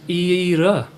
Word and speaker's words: Ira: It is pronounced in Ireland, in Northern Ireland, as Ira.